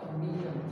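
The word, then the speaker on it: Gnetum: Cycas, Pinus और बीटा जी silent है।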